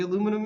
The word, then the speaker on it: aluminum: How do you say aluminum, Mr.